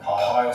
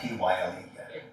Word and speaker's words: Pyle: Donovan Pyle, spelled with a Y. Pyle.